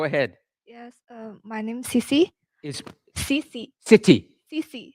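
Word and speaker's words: Cici: then uh go ahead yeah yeah my name's CeCe City CC how do you spell it c-i-c-i CC CeCe lovely go ahead CeCe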